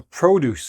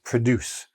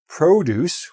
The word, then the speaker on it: produce: Now, a lot of people don't realize that this is not pronounced "produce". "Produce" is a verb; "produce", with the stress on the first syllable, is fruits and vegetables.